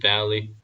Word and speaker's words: Valley: This second group of kings joined forces in Siddim Valley, that is the valley. 벨리가 아닙니다. B가 아니에요. Valley of the Dead Sea. 아래 혀와 위 입술 사이로 나오는 그 바람 소리로 The valley of the Dead Sea.